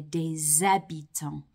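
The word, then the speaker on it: des habitants: expecting it to sound you're going to hear de zabiton because of the silent h at the beginning of the word ebiton okay I hope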